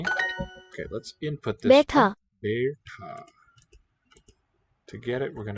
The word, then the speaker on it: बैठा: It's that one spelled with the diphthong, B-A-I. Be, more open. Ta. The retroflex, aspirate, capital T-H, long A.